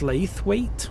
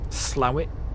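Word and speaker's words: Slaithwaite: I believe um and it looks like it's pronounced SLA weight so it's s l s l AI t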